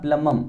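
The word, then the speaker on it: plumbum: क्या होता है प्लमम, हालांकि यहाँ पे इंग्लिश स्पेलिंग में यहाँ B आता है, लेकिन B के बाद आप जानते हैं जब भी M के बाद B होता है तो वो हमेशा साइलेंट होता है, कौन, B, ठीक है, इसलिए मैंने लिख दिया प्लमम, ठीक है।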